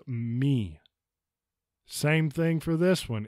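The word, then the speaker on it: μ: but it's actually Lampa this is not moo this is me same thing for this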